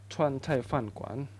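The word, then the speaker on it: 川菜饭馆: Bacanya Chuan Cai Fan Kuan.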